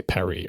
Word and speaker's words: Paris: We say Paris, but French people don't say Paris, they say Perry or whatever, right?